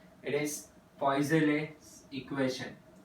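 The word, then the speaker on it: Poiseuille: इट इज पॉइज़ले equation. So इट इज EUI, spelling बड़ी अजीब सी है, LLES, पॉइज़ले इक्वेशन.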